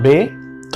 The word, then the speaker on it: ব্যথা: ব জফলা উচ্চারণটা ব এর সাথে এর মত আসবে। কেমন? তো ব জফলা বে। জফলার উচ্চারণ কেমন আছে? এর মত বজফলা বে তারপর থ আকার থা ব্যথা ব জফলা বে থ আকার থা বেথা ক্লিয়ার ব্যক্তি একই রকম